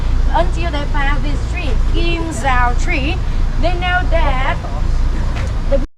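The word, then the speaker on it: Kim Giao: Ladies and gentlemen, so I would like to show you that this is a special tree named Kim Zao. It's spelled K-I-M space G-I-A-O.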